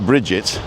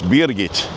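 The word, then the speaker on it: Birgitt: a German name and it's spelled b i r g i t t so it's not Bridget which would be easy right it's beit and we went to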